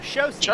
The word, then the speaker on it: Chaussee: Yeah, Chaussee is how it's told. You're probably pronouncing it right, but that's how he pronounces it.